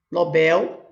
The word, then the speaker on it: Nobel: Nobel é aqui, ó, sílaba forte. É uma oxítona.